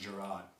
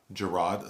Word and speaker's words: Jerrod: the standup comedy special of Jared carmichel it's pronounced gerro gerro sorry gerro gerro carmichel um and people wanting